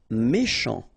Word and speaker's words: méchant: Méchant. Final T not pronounced. Then C-H, ch, chant, méchant.